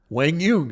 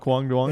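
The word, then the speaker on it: Quang Duong: It's not Kwang Duong? It's not Kwang Duong. It is Wang Yung, and we're going to pronounce it correctly on this show, or at least how they say.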